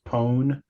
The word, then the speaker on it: pwn: see name of it I generally see pwn pronounced as pone as in pone to own something you manage to compromise